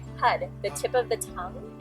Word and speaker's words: Har: practice is HUD and it's spelled h a r but you don't say it like har say HUD the tip of the